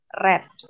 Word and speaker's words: read: bentuk tiganya apa brid nah tulisannya sama read Tapi bacanya red books when bla